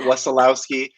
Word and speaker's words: Wesolowski: about my last name i say it wassalowsky but when i went to eastern europe they told me i mispronounced my own name because not exactly how you would say in polish so yeah okay well